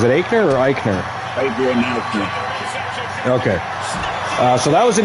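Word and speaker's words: Aichner: Yeah, but how do you pronounce the last name? Is it Eichner or Eichner? Fabian Eichner.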